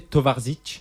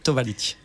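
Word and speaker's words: towarzysz: Tovarzic, ça veut dire quoi? Alors je pense que c'est Tovalic. Alors, Tovalic qui veut dire camarade en polonais, mes deux, donc mon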